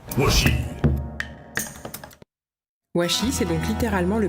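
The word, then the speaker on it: 和紙: Il peut aussi se prononcer shi, comme dans Washi.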